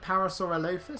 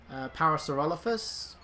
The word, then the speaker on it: Parasaurolophus: have our new dinosaur two ways of pronouncing this thing's name some call it Parasaurolophus some call it Parasaurolophus that's how I first heard it so that's that's typically